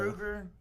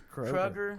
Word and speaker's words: Kroeger: Kruger? How you say it? I think it's Kroger. Kroger. Something like Like that. like the spelled store.